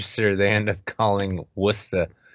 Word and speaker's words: Worcester: they end up calling Worcester it's not worth it's not what's too sure that town is called Worcester and yes it's spelled Worchester but deal with that all right next up